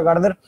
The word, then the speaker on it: Gaarder: El autor del libro es Justin Gardner, se pronuncia Gardner.